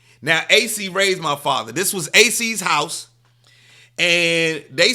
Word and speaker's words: Acie: It's actually ACIE is how it's spelled, AC. That's my middle name. My middle name is ACIE, AC.